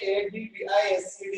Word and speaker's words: advise: సో ఇక్కడ verb అనేది spelling చూడండి, ADVISED, అడ్వైజ్డ్. అడ్వైస్ వేరు, అడ్వైజ్ వేరు. లుక్, అడ్వైస్ అంటే సలహా, ఇది noun. అడ్వైస్ noun, అడ్వైజ్ verb. Okay, so please observe the difference between the pronunciation between advice and advise.